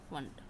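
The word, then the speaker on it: Pfund: P silent है बेटा, फंड।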